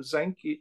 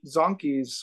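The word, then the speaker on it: Zanchi: look at uh Jerome zanke zonkeys or zanky depending on how you want to pronounce his name his his work on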